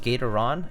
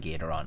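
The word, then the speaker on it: Gateron: Can't find Gatoron? It's... What do you mean you can't find Gatoron? It's Gator, like Gator, like Gator, and then Ron from Novel Keys.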